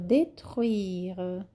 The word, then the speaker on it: détruire: Il suffit d'un orage pour le détruire. Il suffit d'un orage pour le détruire. Aqui é bem falado détruire e eu coloquei em negrito para que vocês saibam que a pronúncia é bem falada, ok?